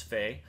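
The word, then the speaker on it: Phe: But it's spelled P-H-E, back to our spelling lessons. And I'm pretty sure it's Fee.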